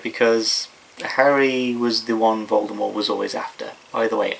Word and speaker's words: Voldemort: Um but they call it they they did they do pronounce it as Voldemort in the actual play. So I'm going to be pronouncing it Voldemort probably from now on actually cuz I think it sounds better.